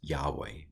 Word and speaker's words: Yahweh: very special word uh y h v h or y-h-w-h depending on how you translate the Bob so this is Yahweh this is the name